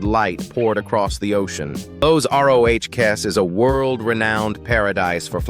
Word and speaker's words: Los Roques: Number two carries us to a scattering of jewels off the Venezuelan coast, an archipelago pronounced Los Roques.